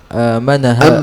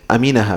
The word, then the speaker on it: aminaha: Maka siapa orang yang takut hadil ahwal pada keadaan ini fid dunya amanaha amanaha atau aminaha bisa bisa amanaha Allah ya ini amana amanahu tapi aminaha berarti bacanya gitu am amin aminaha maka dia akan selamat